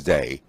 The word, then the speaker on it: Dey: is the dye mansion it's pronounced day in English dye in Dutch and they invited the